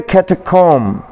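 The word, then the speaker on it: catacomb: फिर है कैटकॉम, कैटकॉम या कैटकूम।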